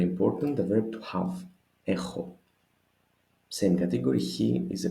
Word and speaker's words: έχω: A little bit peculiar pronunciation. One is γάμα, the other is he, so I don't have an excuse to confuse them, right?